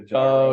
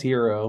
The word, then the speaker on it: gyro: sign to get a gyro yeah is that how you say it I thought it was hero but well yeah gyro for me I'm okay it's all